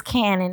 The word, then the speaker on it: Canon: Well, I think it's Cannon, not Keenan. I apologize for the mispronunciation of your name. My bad. And the misspelling too, because it's definitely spelled like Canon, like a camera brand.